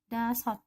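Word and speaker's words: 다섯: Kita sudah pelajari tadi sebelumnya, kalau siot ada di bawah maka bacanya menjadi T. Jadi dibaca dasot, artinya 5.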